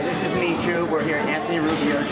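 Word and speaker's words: Miju: Michu. Michu.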